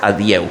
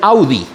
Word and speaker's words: adieu: Ya yo les había contado, Vals de l'adieu, que se escribe adieu en francés, adieu. Entonces tenía un amiguillo pianista muy, no sé, decía el Vals del Audi, del carro a Audi, imagínense ustedes.